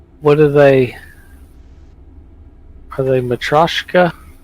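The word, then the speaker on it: Matryoshka: Are they Matroska?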